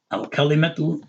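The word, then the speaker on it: الكلمة: Remember we said that with this aleph here, whatever is the last vowel here, which is the dhamma, okay, al-kalimatu, this dhamma, the u sound goes past this aleph to the lam, right?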